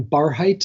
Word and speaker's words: Barhydt: as in Tom and is pronounced like a high bar bar height Kevin bar